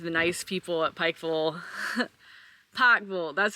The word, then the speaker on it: Pikeville: it went to the nice people Pike full Pik full that's how they say it here I finally